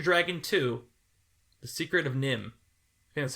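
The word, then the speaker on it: NIMH: to Train Your Dragon too The Secret of nim okay that's how you say it I've never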